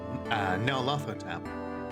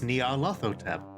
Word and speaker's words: Nyarlathotep: I'd like to pronounce the name as Nyarlathotep, but honestly, go with whatever you feel works.